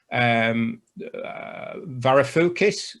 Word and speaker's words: Varoufakis: I remember Varoufakis, the Greek finance minister. Is that right? How to pronounce his name?